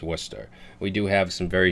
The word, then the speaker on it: Worcester: It's not and for you you people that aren't from Massachusetts, it's not Warsester, it's not Warchester, it's Worcester. We do have some very strange uh pronounc pronunciations for city names.